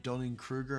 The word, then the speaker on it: Dunning-Kruger: It sounds like a wee bit of Dunning-Kruger. Am I saying that right? Am I getting the phrase? No, that's the right way to say it.